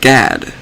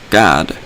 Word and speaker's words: Gad: The sons of Gad. They spell it G-A-D, or I actually pronounce it Gad, or God. It's still the same spelling as G-A-D. Gad, or God, or like I said, G-A-D, Gad.